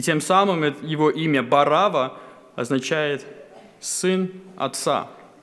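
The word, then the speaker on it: Варавва: И само имя Варава – очень интересное имя. Это древнеарамейское имя, и правильное произношение этого имени – это Барава. Само имя состоит из двух частей – Бар и Ава.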